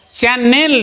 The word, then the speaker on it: channel: যেমন আজকে আমরা শুরুতেই বলেছি চ্যানেল কথাটা, CHANNEL, এর উচ্চারণটা কিন্তু এর শেষে ডবল এনের পরে ই আছে, উচ্চারণের মধ্যে সেটা আসবে না, উচ্চারণটা হবে চ্যানেল, চ্যানেল নয়, নয়েক আর ল নয়, চ্যানেল, নয়ের পরে সঙ্গে সঙ্গে ল বলে দিতে হবে।